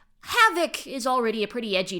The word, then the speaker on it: HXVoc: I think it's pronounced Havoc, but...